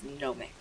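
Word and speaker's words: Gnomics: The Nomix spelled like gnomes. G N O M and then I cs at the end instead of the E. The way that gnome would be. So, it's Nomix.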